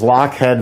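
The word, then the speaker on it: Lochhead: she's right this is lockhead vanilla it's a company that specializes in vanilla and specializes in also in vanilla for ice cream it's spelled l-o-c-h-h-e-a-d lockhead and this is a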